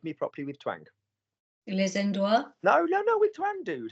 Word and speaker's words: endroits: Les endroits. No, with twang, dude. How do you pronounce E-N? Ah, les endroits. No. E-N, Maggie.